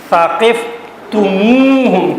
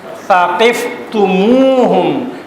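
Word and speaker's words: ثقفتموهم: ادا کرنے کے لیے ہم سے پہلے واو کا اضافہ کر دیتے ہیں اور اس کو پڑھتے ہیں ثقفتموہم۔ کیا پڑھتے ہیں؟ ثقفتموہم۔ اور یہ کام صرف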